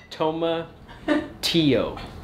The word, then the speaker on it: tomatillo: do you say it the ELLs are like a why so much here come a to you tomatillo Tomoki Oh dad just say it toma tio okay I'm a - yo